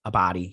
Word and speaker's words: Abdy: by michael deluca and pamela a a body a body yeah that's how you say her name uh